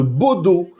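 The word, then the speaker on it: Bodø: Alors déjà faut savoir que le club se situe dans la ville de Baudau tout au nord de la Norvège.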